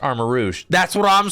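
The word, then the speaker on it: Armarouge: a french guy and I can confirm it's pronounced armor Rouge that's what I'm saying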